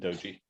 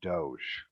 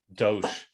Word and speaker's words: Doge: and Shane it's pronounced Doge Doge uh it's very similar to douche yeah so I don't